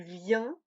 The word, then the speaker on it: viens: Je viens, tu viens, il, elle, on vient. Oui, cette forme et cette forme se prononcent de manière identique car le S et le T ne se prononcent pas.